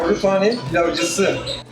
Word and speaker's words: Baruthane Pilavcisi: Baruthane Pilavcisi.